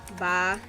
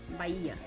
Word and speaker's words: Bahia: Bahia. The H is silent in Portuguese. Bahia.